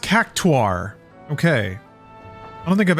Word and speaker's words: Cactuar: It is pronounced cactuar.